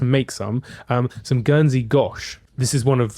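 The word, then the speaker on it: gâche: And the word gash actually comes Sorry, the word gosh. The word Okay, keep doing it cuz it's the word gosh, it's spelled G A C H E with a little um circumflex accent on the A.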